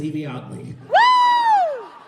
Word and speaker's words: Yvie Oddly: buying random tickets although if you've ever been curious on how to pronounce it pay attention to the whole two TV shows that set it for a whole season yes they did however my name is Eevee odley that is my brand